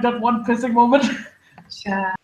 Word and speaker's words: Char: Did you know that my surname is pronounced the exact same way that Char is pronounced? Oh, okay. Shah.